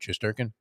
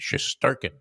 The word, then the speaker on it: Shesterkin: Shesterkin, the goalie for the Rangers. Shesterkin, yeah. I think the middle syllable is the one that's emphasized. Shesterkin.